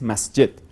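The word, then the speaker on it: مسجد: de rezo mesquita bueno mezquita es como cambiar pronunciación del de la misma palabra que en árabes masjet como por nombre del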